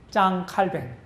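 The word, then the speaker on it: Jean Calvin: 그 다음에 이제 프랑스 말로 칼뱅이라고 그러는데, 짱 칼뱅. 그 영어식 발음은 이제 존 칼빈이라고 그러죠?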